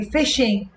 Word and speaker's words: phishing: Okay, phishing, and it's pronounced the same as actual fishing.